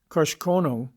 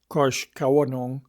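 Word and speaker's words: Koshkonong: Kosh Kono or more properly kosh kawanong third syllable unacented signifying the lake we live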